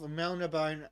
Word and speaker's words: Melniboné: Elric of Melniboné and the Eternal Champion. Yep. Apparently, There's it's a supposed to be an deliberate accent on the E at the end of Melniboné.